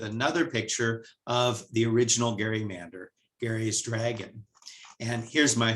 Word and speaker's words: gerrymander: and by the way many people don't know that that word is pronounced gerrymander you'll often hear gerrymander even from news reporters but now you know how it's really pronounced we still see gary